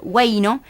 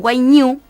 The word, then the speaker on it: huayno: En la literatura usual en el Perú se escribe huayno, pero algunos dicen huayñu, que es en quechua, huayñu.